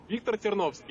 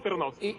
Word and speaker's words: Ternovsky: ¿Cómo pronunciarlo correctamente en ruso? En ruso yo soy Ternovsky. En español, Ternovsky.